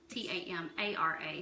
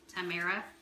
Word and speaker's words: Tamara: My name's Tamara, and it's spelled T-A-M-A-R-A. So lots of people say Tamara. What my parents have always called me Tamara, as if that second A is not in there.